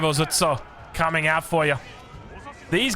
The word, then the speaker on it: Ozutsu: Taganashima Gunsmith gives you access to the Ozutsu. I think I'm pronouncing that correctly. It's more like the Ozutsu.